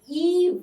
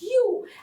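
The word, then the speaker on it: ewe: w e as well please never read it as Eve if pronunciation is completely a wrong pronunciation it's always pronounced as you and this is she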